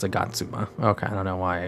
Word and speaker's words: Agatsuma: Agatsum. No. Is it Agatsuma? Or Agatsum? Yeah, it's Agatsuma.